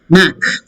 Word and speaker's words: knack: Knack. K is silent.